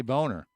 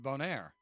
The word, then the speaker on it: Bonaire: I heard him say boner. No, he said Bonire. Well, that's if you put that little upswing on the end of it.